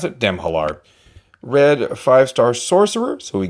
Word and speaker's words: Demhalar: That's how we pronounce it. Demhalar.